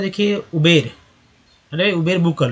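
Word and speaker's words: Uber: उबर लोग नहीं बोल पाते हैं, लगता है कि गलत है, लेकिन एक्चुअल उच्चारण वही हो रहा है, एक्चुअल उच्चारण है, करेक्ट है। लेकिन उबेर भी बोल रहे हैं तो गलत नहीं है, क्योंकि अब मैं बोलूँगा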